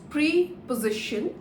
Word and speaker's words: preposition: words in the sentence although it is written as pre position the pronunciation is preposition preposition with a more effort on prayer preposition s are the